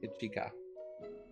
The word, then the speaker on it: Ichika: you are sakura and ichika I'm probably saying the last one wrong you can correct me i-c-h-i-k-a um you said it right as well as uh